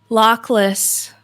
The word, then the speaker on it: Lockless: it in the oh yeah how do they pronounce it okay lockless he's at the edge of lockless and he